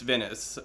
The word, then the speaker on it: Venice: Captain, Autumn Venice, I've been saying his name I said Venus, like, which rhymes with penis. I didn't mean to. I never really looked at the pronunciation of his name or asked him. It's Venice.